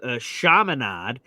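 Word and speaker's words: Chaminade: Shamanad. Yeah. Yeah. So, the high school I went to is called Shamanad. It's a It's spelled C H A M I N A D E.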